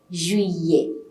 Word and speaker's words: juillet: Then July is pronounced as Juillet. Juillet. We're not pronouncing double L. Whenever you have a combination of the letters I-L-L-E, you get a pronunciation of year in French. So we are not pronouncing L at all in July, though you have the letter there.